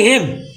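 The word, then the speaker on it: hymn: जैसे ए एच वाई एम एन, ये कहाँ पढ़ी हेम, एन हो जाए साइलेंट, ठीक है।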